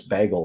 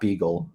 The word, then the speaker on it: Bagel: I found out it's Bagel today. It's not Beagle.